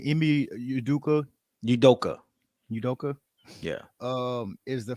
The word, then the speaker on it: Udoka: about celtics coach i think how do you pronounce his name emmy yoduka udoka udoka yeah um is the fact that whenever